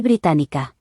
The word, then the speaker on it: británica: if male and Soy británica. if female. The stress falls on the syllable with the accent. Británico. Británica.